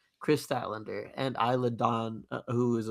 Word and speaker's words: Statlander: women's world champion and Statlander versus, which I was mispronouncing last time. I apologize. It is Statlander. Chris Statlander and Isla Dawn, who